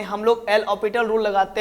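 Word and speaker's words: L'Hôpital: एल ऑपिटल rule, बहुत कोई इसको एल हॉस्पिटल रूल पढ़ते हैं, लेकिन ये उच्चारण प्रोनाउंसिएशन गलत है। इसको क्या पढ़ते हैं? एल ऑपिटल rule.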